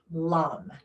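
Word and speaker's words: LAM: And the vicha mantra is spelled L A M. Lum.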